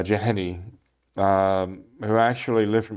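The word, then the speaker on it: Jahenny: uh marie julie well i think in english we say jahini uh jahani um who actually lived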